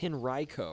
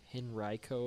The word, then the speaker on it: Henrico: Mysterious Van says I pronounced Henrico wrong, which I think I just pronounced wrong too. It's Henrico, right? Henrico, if I remember correctly.